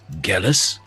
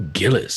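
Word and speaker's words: Gellis: that concerns me is shouldn't your name be pronounced jealous it's G e ll is all this time I've been calling you Gillis shouldn't it be jealous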